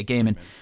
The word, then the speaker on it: Gaiman: I don't know how you say his name, which makes Gaiman, I believe. Yeah, Gaiman.